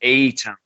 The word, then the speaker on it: A-Town: It's A Town ogre because anyone from Atlanta knows it's called eight. We call it A Town.